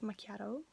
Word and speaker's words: macchiato: i know it's pronounced macchiato yeah we have you know double letters you have to pronounce them it's like um um yeah this sound c and h is like a k in italian so pretend it's like